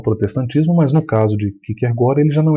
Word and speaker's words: Kierkegaard: No Brasil a gente fala na forma portuguesada, você vai ouvir com muita frequência Kierkegaard. A forma mais próxima aí do correto é Kierkegaard, porque a pronúncia em dinamarquês, ele era dinamarquês, ficou conhecido como o melancólico dinamarquês.